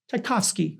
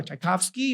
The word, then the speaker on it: Tchaikovsky: How do you pronounce his name? Tchaikovsky.